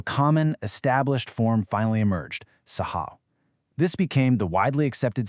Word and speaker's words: Saaho: That double A accurately denotes the long ah pronunciation, completely honoring the original spoken language while keeping it easy to type and read in modern print.